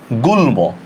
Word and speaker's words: গুল্ম: গরস্বকার গু, ল হসন্ত, ময় ওকার, গুল্ম, ঠিক না?